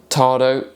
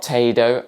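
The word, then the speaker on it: tado°: Yes, that's right, Tado, not Tado, as I pronounced it in this video.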